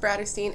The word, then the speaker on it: Bratterstein: my channel name is pronounced Bratterstein, and this is Baz Cat Velasquez.